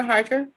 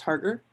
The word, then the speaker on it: Harker: looks good thank you commissioner harker um it's pronounced harder and i think alex